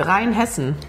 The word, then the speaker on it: Rheinhessen: Rheinhessen. Rheinhessen. Rheinhessen. Rheinhessen. Yeah. It's like two words basically. Rhine, the river, and then Hessen, the part of Germany.